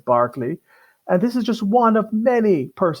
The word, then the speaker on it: Berkeley: House of Lords today Michael Berkeley and it's pronounced Barclay even though the spelling it suggests Berkeley but it's Barkley and this is just one of many persons